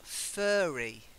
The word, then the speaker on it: furry: So the next one, again, it's the sound. Furry. Furry. Yes. His fur was furry. I forgot. Try that. Okay, furry. His fur was furry, but he was in a fury.